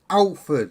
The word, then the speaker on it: Halford: Because if Ian Matthews, then it's Alford. Alford. He doesn't pronounce his H's.